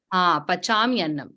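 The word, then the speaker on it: pacāmy annam: Pachami annam. Okay, as long as you're saying pachami annam, it's correct.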